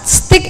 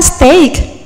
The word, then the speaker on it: steak: Stick itu kan chopstick, kan sumpitnya. Kan saya mau makan steak, ya. Steak. Can you say steak? Bukan stick ya. Oke, sekarang L.